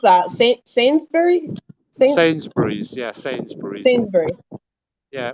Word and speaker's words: Sainsbury's: This is a This is quite How do you pronounce that? Sainsbury. S Sainsbury's.